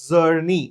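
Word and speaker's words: Czerny: It is spelled with a C, but C is silent. It is called as Zerny and it's called as Zerny's retractor.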